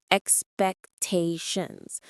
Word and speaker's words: expectations: The pronunciation is expectations. The stress is on the third syllable. The plural form ends with an s sound.